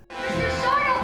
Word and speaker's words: Sardo: Sardau, help us! Help us! That's Sardau. No, mister. Accent.